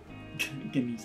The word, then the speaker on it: Ganesh: Ganesh. I feel like probably, like, the G doesn't get pronounced, but everyone pronounces it as, like, a personal attack on them.